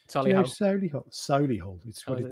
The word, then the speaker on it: Solihull: And it's closer to Birmingham or Solihull. Solihull. That's how the locals pronounce it.